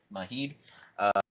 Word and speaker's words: Majid: When I got the sword, would I have had a chance to talk to shoot, how do you Majid? Mahid. How do you pronounce his name? Mahid.